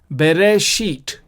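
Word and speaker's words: בְּרֵאשִׁית: And of course it is pronounced Ta. And so the whole word then becomes Bereshit.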